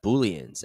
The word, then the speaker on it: Boolean: through these one by one first we have booleans and yes that is how you pronounce Boolean Boolean data can only have two